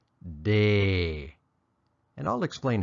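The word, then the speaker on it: တယ်: about in this lesson it's pronounced Tay or more often day and I'll explain how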